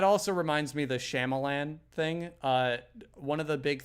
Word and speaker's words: Shyamalan: You said his name wrong. Oh my God, are we gonna do this again? Yeah, we are. So you better say it right. Shyamalan. There we go.